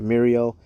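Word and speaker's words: Mérieux: I I believe it's it looks like a French word that eux is pronounced oh all right Mario which then became Rhone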